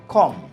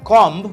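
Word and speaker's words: comb: এরপরে কম, আই এম কমিং my hair, কম, নট কম্ব, নট কম্বিং।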